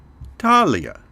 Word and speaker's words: Thalia: should warn you that I'm trying to use the original Greek pronunciation, and most of the time you will hear the names of the Muses pronounced in an Americanized or anglicized version for the English. So the way you will hear them pronounced elsewhere might sound different from the way I'm saying them here.